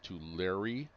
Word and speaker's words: Tulare: Of course we have Tulare. That is how that's pronounced pronounced as Tulare. Just think of like you're writing a letter Tulare.